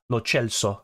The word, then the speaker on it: Lo Celso: Lo Celso is how they say it in Argentina.